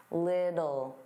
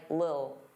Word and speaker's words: little: Now little, native speakers, including me, generally pronounce the T's as soft D's. Little, little. Some native speakers really reduce this word and it just sounds like lil, lil, get a lil, get a lil.